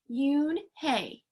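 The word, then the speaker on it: Unhei: no no yune corrected it's spelled u-n-h-e-i it's pronounced yoon hay oh it's you hey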